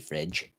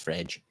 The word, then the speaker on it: Fred: His name's actually Fredge. Fred. It's pronounced Fredge. It's Brazilian / Portuguese.